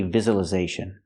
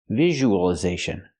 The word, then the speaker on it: visualization: We don't say visualization. We say visualization. So it's not the z sound like zebra, it's the j sound like usual, visual.